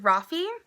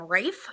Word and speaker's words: Rafe: a rock race um I had a friend in high school who spelled his name like that and pronounced it Rafi but when I was listening to the audiobook they call him Rafe so if I accidentally go back and forth between the two that is why apparently it is Rafe according to this book